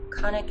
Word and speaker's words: Connick: Connick as in tonic.